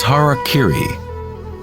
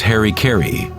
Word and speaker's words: harakiri: one form of ritual suicide or seppuku was harakiri was often mispronounced as Harry KY it means to impale one's Hara thereby cutting